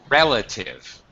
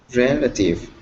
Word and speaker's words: relative: Relative. Relative. Yes, you had the syllable stress wrong.